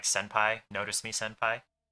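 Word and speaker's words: 先輩: So if there's an N sound before one of those, it becomes an M. Just because that's the way the mouth pronounces things more easily. Like, that's what it evolved into, actually. So like properly, technically it's tenpura, but in actual speech it's tempura, and senpai.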